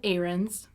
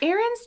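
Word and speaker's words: Ahrenes: the joke i just i almost said it like how aaron like but it's not spelled like that it's just what it's spelled like errands but it's a-h-r-e-n-e-s but i said it like aaron's so okay john arons fancied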